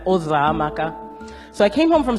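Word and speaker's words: Uzoamaka: teachers or anyone neighbors try and say my name and it would be azumaka uzamaka uzokuza any version that they could think of other than ozra maka so i came home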